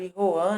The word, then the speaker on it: Joan: Hugo e as obras de Joan, por Juan, né? Porque é espanhol, né? A pronúncia se torna diferente.